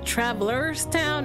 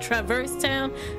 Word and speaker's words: Traverse Town: Okay, so I used to, when I was a kid, I used to pronounce this world as Traveler's Town, not Traverse Town.